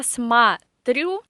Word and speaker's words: смотрю: So я смотрю. The stress is on the last syllable. Ты смотришь. The stress is on the first syllable. And here the famous Russian reduction works. So я смотрю, you say a in